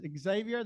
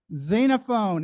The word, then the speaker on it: Xenophon: stand for zena fun I've heard I heard Xavier that's right that's wrong who said Xena Fon 20 bucks xenophone it's spe it's spelled x n n o p n xenophone